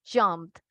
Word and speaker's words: jumped: veamos este tema, entonces, no siempre se pronuncia, en este caso, al ver ed, nosotros pensamos que es ed, ¿verdad? Jumped. Algunos casos sí, en este caso no, en este es jumped, just the D sound, el sonido de la D, jumped.